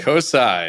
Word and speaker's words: CoSAI: think coai is what coai is the approved pronunciation of it coai cool okay awesome I love